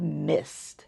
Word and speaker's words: MSST: And the last one that we are going to do is called Mist. And it's spelled MSST.